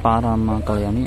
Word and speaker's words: Parama Kalyani: porta da folha, lombok desculpe aqui eu pronunciei errado o nome do navio o correto é KMP Parama Kalyani de propriedade da JEMLA